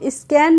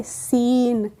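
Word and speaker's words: scene: सी ई एन तो इसको हम स्कैन नहीं पढ़ेंगे क्या पढ़ेंगे सीन कैसे पढ़ेंगे सीन तो एस के बाद यहां पर सी आया है हमने इसका प्रोनाउंस एशन नहीं किया है ऐसे ही है साइंस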